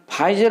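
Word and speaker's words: Pfizer: उसके बाद फाइजर vaccine, ये पी साइलेंट रहता है, इसको हम लोग पढ़ते हैं फाइजर वैक्सीन।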